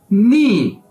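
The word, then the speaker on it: 你: और उर्दू में तुम आपने इसे कैसे बोल रहा है नी क्या कि मी तो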